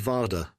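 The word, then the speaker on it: Warda: "My name is Varda," she said, pronouncing the W like a V.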